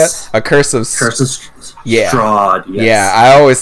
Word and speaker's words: Strahd: A Curse of Strahd, yes. Yeah, I always said a Curse of Strand for some reason.